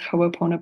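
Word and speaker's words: Hoʻoponopono: this is the Hawaiian teaching of forgiveness it's pronounced hoona pona and and chanting this prayer over and over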